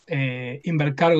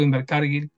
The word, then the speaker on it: Invercargill: Invercargo, Invercargill, depende Ya con quién pronunciás hables.